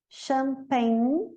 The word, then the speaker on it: Champagne: champagne, Champagne. E final também não pronuncia. Champagne. Termina em N.